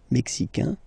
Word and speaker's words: mexicain: Le Mexique, mexicain, un here, like we had in américain, A-I-N, mexicain, and then mexicaine, mexicaine.